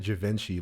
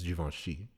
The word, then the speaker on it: Juventus: it juventus the song he says it javinci but i think the pronunciation is juventus okay by young thug